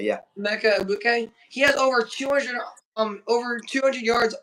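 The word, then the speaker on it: Emeka Egbuka: Emeka Ibuka, yeah. Emeka Ibuka.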